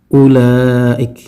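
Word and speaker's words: أولئك: Ya, sehingga kita membacanya, kalau kita baca ayat ini yang 121, maka kita bacanya alladzina atainahumul kitaba yatlunahu haqqa tilawatihi ulaik. Jadi wawnya tidak dibaca.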